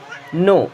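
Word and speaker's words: know: नो, देखिए यहाँ पे के होता है साइलेंट, एंड इसे हम नो पढ़ते हैं, फिर नाउ नहीं पढ़ते हैं, इसे नो पढ़ेंगे।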